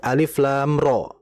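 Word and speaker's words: الر: Adapun kalau mukhaffaf tidak dighunahkan seperti contohnya alif lam ro. Alif lam ro. Kalau kita perhatikan lam, lam itu kan berarti secara ejaannya lam alif mim. Nah, mim ini kan dalam kondisi mati ya. Ejaan pada lamnya bertemu setelahnya itu ro. Nah, ro ya. Ro ini kan dia itu berarti mim mati ketemu huruf roar dihukumi dengan apa? Izhar. Sehingga tidak boleh kita itu membaca dengan idgham.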